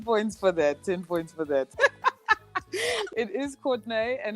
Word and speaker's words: Courtnaé: Is it You Courtnaé? did, but I wanted to give you like the DJ horns. Or is it Courtney? No, it's definitely Courtnaé.